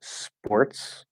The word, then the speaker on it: sports: the voiced version it's gonna sound a little bit like a b in this case sports it's not sports with a buh but it's gonna sound very very similar um you could probably do a b and it won't really make much of a difference but it's supposed to be a p um and uh in